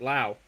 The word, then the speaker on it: Lowe: But the Pirate defense tonight It'll be Gonzalez at third, Triolo at short, Brandon Lau, excuse me, he pronounces it Lau, Lowe.